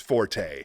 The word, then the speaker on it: forte: specialty or strong part strong point is not pronounced ounc Forte got that it's pronounced Fort the Italian word Forte used in music notation is pronounced Forte and it instructs the musician to play loud